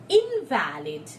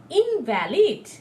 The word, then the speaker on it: invalid: ray to fuse similarly here invalid that means he has he is an invalid so he has problems in moving around but if i tell invalid that means this is invalid passport means it is useless similarly the entrance means